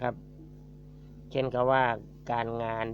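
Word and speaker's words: ការ: ก็ ก็ แล้ว แต่ ถ้า สะกด ด้วย ร เรือ จะ ไม่ อ่าน เอา ร เรือ นะ ครับ เช่น กำ ว่า การ งาน ที่ ที่ ผม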